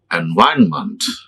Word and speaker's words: environment: month is it mentor month it is month environment environment environment many people they pronounce mental mental do you have to stop